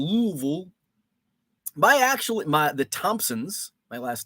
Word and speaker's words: Louisville: I say Louisville like a damn Yankee. Louisville. I know the proper pronunciation is Louisville. You just say it with as few vowels as possible. Louisville.